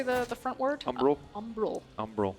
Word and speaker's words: Umbral: Umbral. Umbral. I always want to say umbrage like Harry Potter.